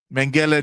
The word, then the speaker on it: Mengele: No, it's Mengele.